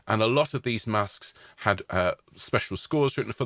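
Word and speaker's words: masques: he wrote music for what were known as masks and that's spelled m-a-s-q-u-e-s and these were courtly entertainments where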